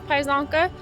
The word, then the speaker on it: Pajzonka: If you're wondering how to pronounce my last name, it's Pajzonka.